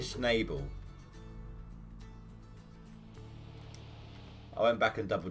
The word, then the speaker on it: Schnabel: like doing things like pronouncing uh parker's is schnubble and you're like taking a mick like pokemon style sort of thing it wasn't noble he was saying it was snable parker schnabel i went back and